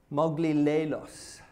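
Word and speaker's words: μογιλάλος: a great scholar but phonetically it's Mowgli Lalo's is the word that describes this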